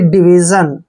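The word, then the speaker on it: division: आई ओ एन देखिए डी का उच्चारण हम ड कर रहे हैं आई को ई की मात्रा पढ़ रहे हैं और वी आई को हमने वी पढ़ना है और जहां भी एस आई ओ एन आता है इसका मैक्सिमम अर्थ जो है जन लगता है यानी कि डिवीजन कई बार इसका अर्थ जो है सन भी लगता है वो एक्सेप्शन है मैं बाद में बताऊंगा डिवीजन डिवीजन होता है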